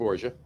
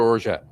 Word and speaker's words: orgeat: It's orgeat or orgeat. Orgeat. All right. It's funny because they're saying it's orgeat rhymes with garage.